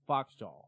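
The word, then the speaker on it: Phoxjaw: And there's this album called Royal Swan by a band called Foxjaw, and Fox is spelled P-H-O-X-J-A-W.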